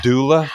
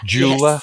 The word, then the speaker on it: doula: Imelda, I've also heard of, and I always say it wrong, a death doula, jeweler. Yes. Doula. Like, I don't think it's a jeweler because I don't think they fight a lot.